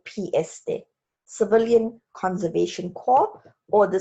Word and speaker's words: Corps: the civilian conservation corps it's pronounced core as if there's no ps3 civilian conservation core or the c c